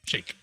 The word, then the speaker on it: Shayk: I thought I looked it up one time, and I thought like Shake. Shay with a K. Shake.